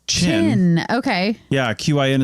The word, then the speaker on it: Qin: tidying up here I looked up the name China in the atmology of it oh yeah uh as I figured I was pronouncing this wrong so his name we were we we were saying kin or something like that q i n or